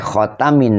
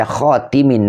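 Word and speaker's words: خاتم: Jadi boleh khatamin nabiyin atau juga dibaca khatimin nabiyin. Makanya di sini Syekh Nawawi mensurahi atau mengomentari bifathi tai wa kasriha. Tetapi wal kasri asharu. Namun membacanya dengan kasrah khatimi itu asharu lebih masyhur.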